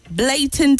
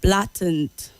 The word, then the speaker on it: blatant: not Health introduce okay introduce and not the way you said it blatant and not blatant was surprised when you said that blatant is the word opponent we've corrected this